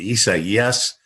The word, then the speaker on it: Isaias: I mean, Isaias.